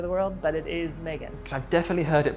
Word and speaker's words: Megan: I think it's more commonly produced in that kind of Oceania part of the world, but it is Megan. I've definitely heard it pronounced Megan, so I had to kind of like, I had to double check.